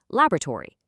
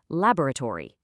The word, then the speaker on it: laboratory: A North American speaker is probably going to compress it into three syllables, like laboratory. But, a British speaker, they'll stretch it right out into four syllables, laboratory.